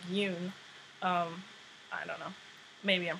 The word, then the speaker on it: Youn: isn't similar to Anthony Young's it's not young it's like Yoon um maybe I'm pronouncing